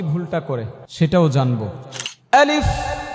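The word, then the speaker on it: ألف: আলিফ, শেষের ফাটা দেখছেন নি কি করছি, এটা করতে হবে। আলিফ, ফায়ের আওয়াজটাকে চালু রাখতে হবে।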